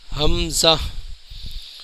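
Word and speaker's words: ہمزہ: سے ادا نہیں کرتے، اس کا صحیح تلفظ یہ ہے کہ اس میں زا کی آواز نکلے گی اینڈ کے اندر، حمزہ۔ یا ناظرین یہ ہماری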